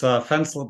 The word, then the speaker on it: Fencl: It's Fencl, by the way, rhymes with pencil.